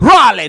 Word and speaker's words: Raleigh: Raleigh, North Carolina. Woo! Okay. That's how you got to say it. You got to say it like Ric Flair usually would say it on WCW Saturday Night.